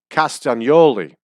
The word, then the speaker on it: Castagnoli: Italian last name and Italians would properly pronounce that Claudio castanoli castanoli castian it would become the G would become a was sound castian Oli we lazy in American English are called castanoli and I've heard them on the television pronounce it caustic pronouncing the G Noli which I think is improper so I'm going to